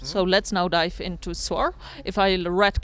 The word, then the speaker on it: SAOR: That's how you pronounce it, SAOR.